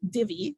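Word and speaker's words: Dhivy: to talk about is just called Divi um that is how you say it so it says like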